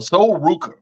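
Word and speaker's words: Sol Ruca: the way of a wrestler her name is soul Rica a soul Ruka as they pronounce it um she's a wrestler on the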